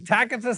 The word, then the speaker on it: Tacitus: And now it turns out that at this time, Tacitus is alive, and that's how you pronounce his name.